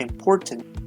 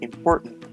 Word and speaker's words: important: Notice this symbol right here in the IPA transcription represents a glottal stop, like an sound. So it's not important, but important.